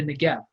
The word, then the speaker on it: Negev: the letter bait but it's pronounced in this context like a V so the right way